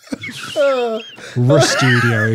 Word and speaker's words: RStudio: RStudio. The letter R. The word studio. RStudio, if you prefer.